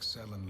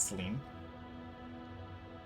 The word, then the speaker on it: Selen: Selen, not Celine. I mean, yeah. I guess it would be like Cian as well. It could be if the two L's were pronounced as a Y. I suspect Selen lives on elsewhere. But I guess if you parse it, it's like selling something and then inside, right? Is how it'd be pronounced.